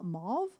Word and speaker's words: mauve: This is like mau ma mauve. Mauve. Is that how you pronounce it? Mauve. It's like a pink pinkish like dirty pink. That's probably my favorite color.